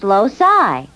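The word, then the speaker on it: loci: no not locuses more than one Locus is pronounced loai I think we should spend a little time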